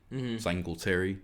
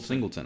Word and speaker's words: Singleton: Singletary. Did I do it again? Singleton. I said it right that time, and I still forget.